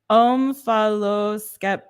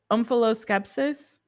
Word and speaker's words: omphaloskepsis: Okay, and the pronunciation is omphaloskepsis. Omphaloskepsis.